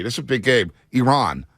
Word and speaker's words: Iran: Iran. It's Iran, not Iran, everybody. Iran, as that Iranian journalist checked one of the USA players, said, it's not Iran, it's Iran.